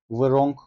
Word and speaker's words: wrong: şeklinde kullanabiliyoruz Bu arada Wrong kelimesine dikkat ederseniz Wrong demiyoruz w okunmuyor r ile başlıyoruz sesletim Wrong şeklinde telaffuz ediliyor de seviye anlamına geliyor